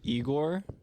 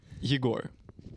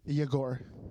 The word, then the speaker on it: Yegor: It's just like people say Igor, right? Which is like fine. It's a Russian name, but actually the correct pronunciation would be Yegor.